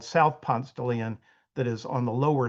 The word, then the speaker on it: Ponce de Leon: the country, where we, instead of pronouncing this road the way you might in Spain or Mexico, we pronounce it Ponce de Leon, not Ponce de Leon.